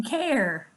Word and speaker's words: care: in our next care air in care not carry that E is silent at the end of this word ok that's air in